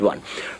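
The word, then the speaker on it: aux: let me hear you know that a u x is pronounced or just or just o pronounce it as o anyway you see a u x pronounce it as what o even if the X is not there it is O we're going to treat that in our subsequent classes but not now but for now just know that that is pronounced as a o and I'm sure you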